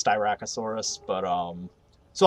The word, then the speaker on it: Styracosaurus: it s then that pronounced it strikeosaurus and i'm like it's styracosaurus but um so like